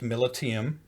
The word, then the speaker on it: Militiam: name and it was confirmed and it is pronounced militium so that is uh i got that from